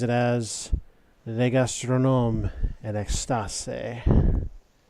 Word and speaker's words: Extase: The sign outside identifies it as Le Gastronome en Extase. You wouldn't pronounce the final E, but other than that, your pronunciation was really good.